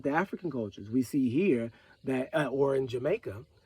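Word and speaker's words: chai: Hebrew word for life is not Chi it's he right but in modern understanding is spelled c-h-a-i in English letters so honey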